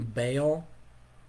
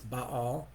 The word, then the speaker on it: Baal: one of those things i grew up hearing baal and even though intellectually i know and i've heard you know the scholars will tell you it's but all that's i i say